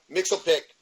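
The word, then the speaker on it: Mxyzptlk: um Mixie, Damn it, Mixelpic, which is I I'll pronounce it Mitchell pick that's how they pronounce it on Super Friends.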